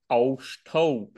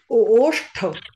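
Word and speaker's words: ओष्ठौ: Imau aushthau. Oshthau. It's just O.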